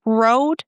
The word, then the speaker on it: road: You know how to pronounce it, road. We have the OA combination in the middle, and you know that it's pronounced as O, as in boat, coat, goat.